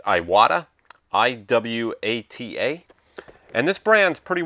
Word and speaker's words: Iwata: the brand is I'm not sure how to pronounce this, so I'm sure I'll screw it up. It's Iwata.